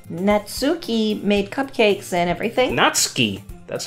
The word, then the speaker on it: Natsuki: Natsuki. That's how you're supposed to pronounce it, but it doesn't matter.